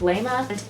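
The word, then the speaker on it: Layma: the ghost's name is lima it's either lima or lema but that just seems like a weird name lema it's spelled l-a-y-m-a i'm just gonna go with leima he's kind of actually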